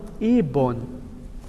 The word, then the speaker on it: ibon: O brasileiro vai ler ibon. Sim. Mas a pronúncia correta é igual no inglês e no espanhol.